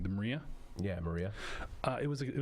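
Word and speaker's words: Mriya: Yeah, Maria.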